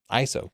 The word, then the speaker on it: ISO: ISO pronounces their name ISO like I'm saying it they don't spell out the letters ISO check out their official